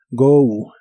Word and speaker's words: go: Go que significa ir la o de esta palabra se pronuncia como ou go go y usaremos el